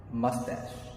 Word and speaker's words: moustache: طب الكلمة دي معناها شارب، اسمها ماستاش. ماستاش. ماستاش. طب الكلمة دي معناها جزيرة، بتنطقها ازاي؟